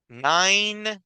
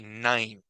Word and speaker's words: nine: ejemplos clarísimos verdad Five Nine verdad son dos números que las e al final no se pronuncian solo se pronuncia la última consonante Five y Nine y el número 10